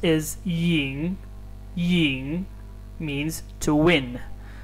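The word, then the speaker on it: 赢: of this word so it is yin ying as a verb having a second tone yin ying to win and the second one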